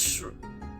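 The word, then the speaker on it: し: Indeed, 4 is pronounced shu, which strongly sounds like the word dead in Japanese.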